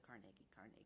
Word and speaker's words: Carnegie: It helps that we're called the Carnegie. Yes. Nobody else can say that, and it is the right way to say it. At least it's the Scottish way of saying it.